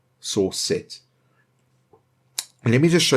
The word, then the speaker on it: srcset: And then we want to put dot, and then source set. So it's SRCSET. So it's spelled like that, source set.